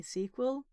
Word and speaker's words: SQL: I was like trying to remember to say Sequel and then I think I almost got there